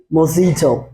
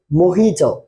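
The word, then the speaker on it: mojito: drinks so এই মোজিটো এটার উচ্চারণ কিন্তু মজিটো হবে না এটার উচ্চারণ হবে মোহিত কি হবে মহিত ক্লিয়ার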